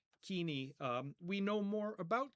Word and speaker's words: Koine: what used to be called co uh we'll pronounce it kini kini um we know more about kini now and